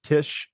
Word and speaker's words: Tich: And if you want to look, search on LinkedIn, that is Tish. It's spelled Tich.